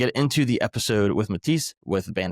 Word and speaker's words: Matic: You pronounced the band name right. My name is Mati, though.